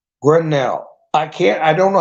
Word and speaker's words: Grenell: Rick Grinnell dancer it it's like Grendel it's grenell grenell I can't I don't